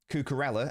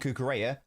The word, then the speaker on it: Cucurella: Cucurella and Cucurella are both correct.